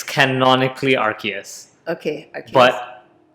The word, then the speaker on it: Arceus: praise rcs was or however you'd like to pronounce it i don't know there's like yes tomato tomato it's canonically arceus okay but it's also stupid it's the shinto